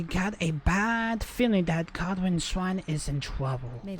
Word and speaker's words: Goldrinn: It's not Godwin, it's Goldrinn.